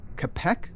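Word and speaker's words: Čapek: you heard of a story by Carl uh capek I think it's pronounced called War of the noes no well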